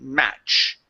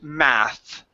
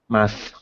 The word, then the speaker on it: math: the word math okay focusing on that th sound hear you sing match okay and it should be math math there you go great